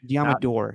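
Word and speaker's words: Deommodore: Diamador. It's Door. Not Nor. Diamador Lenore. I know, but every time I think I'm saying it wrong with Door, Commodore. Think Exactly. Commodore.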